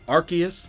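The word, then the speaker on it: Arceus: Also, yes, Archus is officially pronounced Archus. I do think Arus rolls off the tongue better, but Archus makes sense in relation to what this Pokémon is and what it can do.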